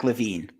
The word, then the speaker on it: LaVine: have this debate every year it is Zack LaVine yeah I okay so regardless who do you